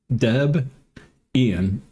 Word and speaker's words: Debian: Uh, Debbian or Hold on, let's try it. Deborah, Debian, Deb, Ian. Oh, okay. Now it kind of makes sense. Deborah and Ian.